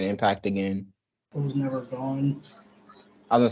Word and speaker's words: Gon: as I want to gone how do you pronounce the character's name from Hunter Hunter the main character okay that's what I thought like his dad gone like me wow imagine people